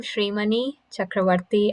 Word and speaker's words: Srimani Chakravarti: um so i am srimani chakravarti i know it sounds like a complicated name it's just like shrek shri and money as in dollars so don't forget my